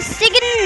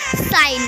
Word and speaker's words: sign: Rule: G is silent before N. Like हम इसे एलिगन नहीं, एलन पढ़ेंगे। हम इसे सिग्न नहीं, साइन पढ़ेंगे।